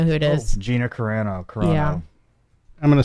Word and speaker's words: Carano: Oh, Gina Carano. Yeah. I'm going to spell it wrong.